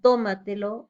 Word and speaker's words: tómatelo: Tenemos como ejemplo la palabra cómetelo, lleva la mayor fuerza de voz en co, sílaba co, igual tómatelo en la sílaba to.